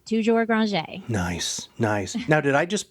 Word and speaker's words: Granger: We go by Granger, but since Toujours is French our name actually used to be pronounced French, so we just, lay it on thick.